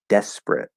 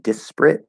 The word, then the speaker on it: desperate: that would be desperate so also notice it's not desperate it's desperate desperate at least that's how i say it where with desperate you could say desperate with an extra syllable there but this is a one of those words where instead of using the er vowel we'll actually change it to the er consonant and drop that syllable i have a lesson